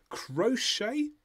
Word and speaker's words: crochet: K here they are crochet which remember has that hook at the end and the silent T and knitting and knitting